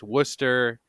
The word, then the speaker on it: Worcester: Wester and and I've I know now it's Worcester even though it's spelled Worchester actually I think it's wora yeah